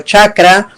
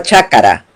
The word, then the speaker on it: chacra: Entonces mientras el quechua sureño dice, por ejemplo, chacra, en el centro se llama chácara, y eso se va a ver en toda la documentación, consecuentemente chácara.